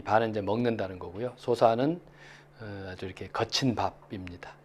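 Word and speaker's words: 疏食: 소사는 아주 이렇게 거친 밥입니다. 보통 이제 식자인데 이거를 밥을 먹는다. 이렇게 밥 할 때는 사로 읽고요. 먹는다 동사로 할 때는 식이죠.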